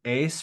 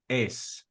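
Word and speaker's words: εἰς: One note that preposition ace right there. Notice that the epsilon and iota are a diphthong, so it's just one syllable. It's just ace.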